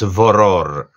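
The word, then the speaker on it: Vörðr: Yeah, I think if you click on Google to give you the pronunciation, it's VOROR.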